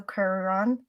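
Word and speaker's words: Cuarón: was uh released in 2004 directed by Alfonso kuron uh is that how you pronounce it yes that was perfect H I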